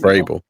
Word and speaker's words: Vrabel: No, it's pronounced Vrabel.